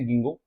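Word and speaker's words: Ginkgo: अब ये प्रोनाउंसिएशन का फर्क है, कहीं किताब में के को साइलेंट माना जाता है, हम तो साइलेंट मान के ही पढ़ते थे गिंगो, लेकिन अपनी जब एनसीईआरटी है तो उसमें हम देखते हैं कि वहां इसका प्रोनाउंसिएशन गिंकागो किया गया है। हम तो गिंगो ही पढ़ते हैं, जब हमने इसको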